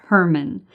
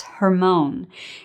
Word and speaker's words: Hermon: it hermann in english we pronounce it herman but in hebrew it's hermone and that's the highest mountain